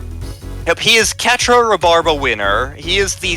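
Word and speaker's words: Quatre: does in Gundam Wing Catra is also the most pacifistic of the uh five Gundam Pilots That's how you pronounce it I thought it was quatra if he is Catra rabarba winner he is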